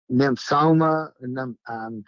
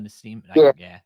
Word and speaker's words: Nosema: Nymphsoma, I'm saying it wrong. Nymphsoma. Yeah, it's Nosoma. Yeah, or where you Nosoma, Nosema. Yeah.